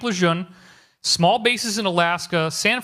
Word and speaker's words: Lejeune: News Savannah North Carolina Camp Luzerne I don't know how to pronounce to spell that but that's how that's phonetic la John okay Camp Lejeune small bases in Alaska